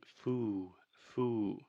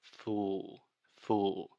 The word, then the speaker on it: fool: But Alexia is saying foo, foo. So the correct pronunciation is fool, fool. This is a very difficult sound, this final L sound. In linguistics, many times we call this the dark L.